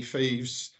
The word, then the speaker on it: Fives: based in Keithley uh is it pronounced fives or feeds Landis and thieves it's French I'm sorry about the phone I've just killed that um yeah no it's um it's uh French company thieves thieves group it was